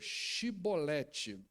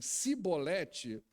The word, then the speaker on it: chibolete: então diziam a ele então diga chibolete se eles dissessem se bolete sem conseguir pronunciar a palavra prendiam e matavam no